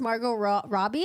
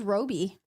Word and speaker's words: Margot Robbie: send it to my siblings so cute it's pronounced Margot Robbie I thought it's Roby I could someone said Roby Shiro I